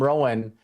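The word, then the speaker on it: Rohn: And for those of you that don't know who Jim Rowan is, and his last name is spelled R O H N, um, is he was also Tony Robbins.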